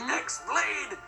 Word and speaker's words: X-Blade: Yeah, means the X-Blade. It's just pronounced like Keyblade, even though it's just one Keyblade.